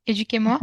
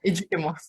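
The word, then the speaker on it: Educ'Emoi: Je le prononce bien, Éduquez-moi, Oui, c'est ça. Éduquez-moi.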